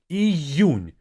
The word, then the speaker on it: Июнь: The difficulty here comes with this U. Июнь. You have to make sure that you have this Y sound there. Июнь.